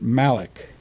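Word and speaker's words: מלאך: It is the word malak, pronounced as if it were spelled M-A-L-A-W-K.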